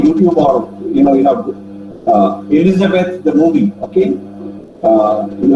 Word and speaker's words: Elizabeth: Elizabeth Elizabeth Elizabeth okay the pronunciation is Elizabeth okay it's not Elizabeth it is the the E is long vow okay Elizabeth so now